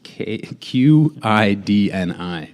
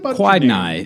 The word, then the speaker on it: Qidni: That's Kidney Labs, Qidni. A constant trip up through the earlier rounds when judges would be like, now what about Quidni?